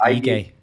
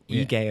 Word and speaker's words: Ige: Is it Dan Ige? It's Ige. Ige, I think. We're rolling with Ige. So if we all say Ige, we'll sound right.